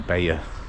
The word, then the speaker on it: Bayeux: now we're going to Bea Bea or beo I don't know how it's pronounced one of those bloody Rush Hour we're out we're in Baya I check the pronunciation and that's close enough about a seven or